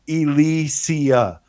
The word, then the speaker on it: Ilysia: I love the title it's pronounced Elysia I'm assuming lots of